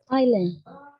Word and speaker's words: island: Island. Ok. The correct pronunciation is island.